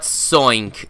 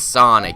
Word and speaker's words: Sonic: Lola, it's not Soink, it's Sonic. S-O-N-I-C.